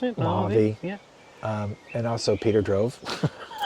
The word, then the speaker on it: Mojave: Is that how you pronounce it? Mojave.